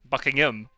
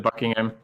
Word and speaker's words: Buckingham: you guys went to Buckingham Palace no no you didn't doesn't exist bucking him interesting yeah yeah the H I totally just said Buckingham Buckingham yeah Bing ham